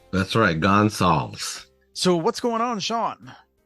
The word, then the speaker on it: Gonsalves: to pronounce it, but we'll just call him Sean Gonsalves today because that's how he pronounces it. That's right. Gonsalves.